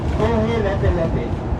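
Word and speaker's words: Kohelepelepe: I have to spell it out. The name is Kohe Lepe. Okay? Kohe Lepe Lepe.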